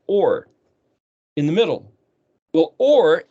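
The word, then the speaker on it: אור: So there's a prefix and a suffix of Tav, and then the word Vav, Resh, pronounced or, in the middle.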